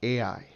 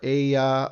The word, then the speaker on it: Ai: some information here about AI. Okay, AI is a city. It's a proper name of a location. It can be pronounced A or Aya or Ayath or Ai or Aya